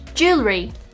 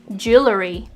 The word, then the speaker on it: jewelry: is in fact gage jewelry not jewelry if you're guilty of this one just drop that extra r sound jewelry well i've learned